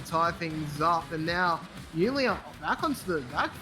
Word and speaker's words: Unley: Is it Unley or Union?